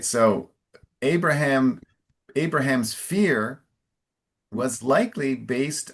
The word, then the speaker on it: Abraham: Your pronunciation of of the the main man is a little more Portuguese than English. I think is it Abra? It's Abraham in English. A big open A.